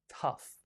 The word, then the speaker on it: tough: Tough. It sounds like T-U-F-F, but it's spelled O-U-G-H.